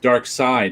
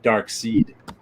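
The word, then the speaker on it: Darkseid: english if it's first i'm told that in german they pronounced it as an i that's why everybody thought lots of people thought it was dark seed well it's german don't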